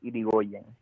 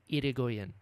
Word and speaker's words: Irigoyen: But the correct pronunciation is Irigoyen. Irigoyen.